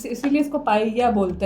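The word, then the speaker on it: paella: Double L ना, ये Spanish में या बन जाता है या।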